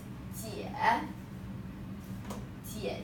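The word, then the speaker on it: 姐姐: 姐姐, second 姐, make it short because 姐姐 in our family, they are very close to us.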